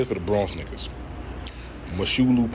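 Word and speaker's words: Mosholu: Moshulu Parkway, straight like that. I don't know no other way to fucking say that shit. You not from New York if you say it any other way.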